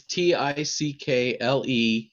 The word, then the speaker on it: Ticklemore: it again stephen it's t-i-c-k-l-e-m-o-r-e so just like it's pickle and more put together as one word tickle more it means